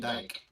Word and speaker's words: Dijk: Van Dijk. Let's go. But it's spelled D-I-J-K.